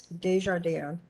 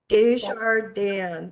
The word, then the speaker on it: Desjardins: pronounce so you are it's french i'm a french canadian it's de jardin desjardins it means of the garden that's lovely yeah you're